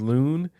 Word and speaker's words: Lune: There's no accent over that E. So it's just Loon. In this person's defense, though, they do say her name.